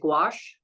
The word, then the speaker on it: gouache: the loops I use I think you pronounce it gouache is that correct Ginger yeah yeah that's right ah so it's it's